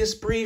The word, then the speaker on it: Esprit: Yes, this is the Esprit. You guys were very good at correcting my mispronunciation of this knife during my review.